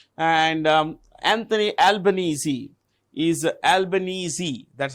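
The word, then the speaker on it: Albanese: can see here and um Anthony albanesi is albanesi that's how you pronounce it Anthony albanesi is a president sorry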